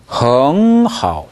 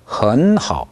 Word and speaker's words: 很好: 네, 이 부분은 헝하오 이렇게 발음이 되기도 하고요. 헌하오 이렇게 되기도 합니다. 왜 그러냐면 H가 첫 음절인 경우에 그 앞에 발음이 N으로 끝나면 그 N이 NG로 되는 경향이 있습니다.